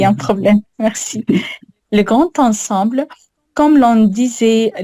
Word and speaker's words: grand ensemble: Ah ouais, alors, tu vois, tu as envie de faire une liaison et tu as raison, parce qu'on a l'adjectif qui est devant le nom, mais pas le grand ensemble, tu vois.